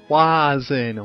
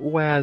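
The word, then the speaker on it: Wazn: we would find anything in Wen it's Wen why are you pronouncing it Wen just didn't feel right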